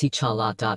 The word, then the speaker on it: T'Challa: he played as the main character called T'Challa, pronounced T'Challa.